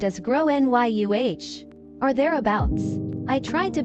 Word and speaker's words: Gráinne: She asked what I meant and I said, "Well, in Ireland, they typically pronounce it like grow NYU."